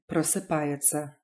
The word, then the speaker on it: просыпается: If you run into t, s, ya or t, s, ya together, they're pronounced tsa, as in просыпается and расписаться rather than tsa.